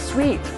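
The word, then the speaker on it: suite: ตัว ด้วย นะ ครับ บาง คน ก็ ออก เสียง ว่า สูตร จริง ๆ ไม่ ได้ อ่าน ว่า สูต นะ ครับ อ่าน ว่า Sweet แ เบรก นี้ ต้อง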